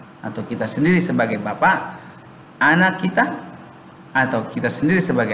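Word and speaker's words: أنا: Ana, ternyata tulisannya panjang pakai alif, tapi pengucapannya pendek. Ana.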